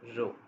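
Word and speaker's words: rho: corresponding population parameter is a Greek letter row this how we pronounce so now we are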